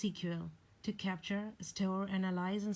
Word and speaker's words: SQL: high level languages like SQL pronounced cql to capture still analyze